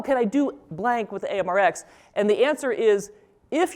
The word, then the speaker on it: AMReX: session so people always ask how do you pronounce it and I say well we call it amrx but it's okay if you call it amrex so this is the block structured AMR software